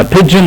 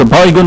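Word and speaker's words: begin: طيب احنا كده خلصنا من كلمه بيجن، النطق الصح بتاعها بيجن وليس بايجن وليس اي حاجه ثانيه، بيجن.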